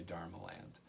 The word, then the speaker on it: Dharmaland: It sounds like a dreamland, but it's actually Dharmaland.